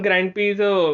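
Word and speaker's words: Grand Prix: F1 ग्रैंड प्री, ग्रैंड प्री, प्रिक्स लिखा गया लेकिन इट्स प्रोनाउंस एज प्री.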